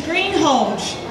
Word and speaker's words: Greenhalgh: The correct pronunciation of my last name is Greenhalgh.